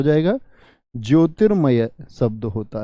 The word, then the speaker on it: ज्योतिर्मय: मैंने क्या सिखाया आपको रिफ रूप का प्रयोग जिस व्यंजन पर है उससे पहले उसका उच्चारण होगा यानी इसकी ध्वनि कहां गई यहां तो बोलिए जोरति जोरति में होगा जोय शब्द है या ज्योतिर्मय शब्द है तो बी एकदम से